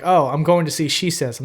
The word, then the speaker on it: Shesez: just came up with a name that just uses 2 syllables, and if you said it out loud in real life, you may accidentally say my name in a sentence.